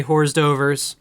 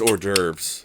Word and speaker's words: hors d'oeuvres: let's think other things I mispronounced horse divorce well definitely horse Dover's yeah that's hors d'oeuvres yes for anyone wondering